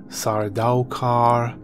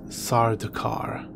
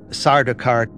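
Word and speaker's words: Sardaukar: various ways I've heard sorry doll car sorry do car but it is sardar car as pronounced by frank herbert Sarda car beside a car Bashar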